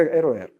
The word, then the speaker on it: RER: Это вот такое R и R, но по-французски читается RER.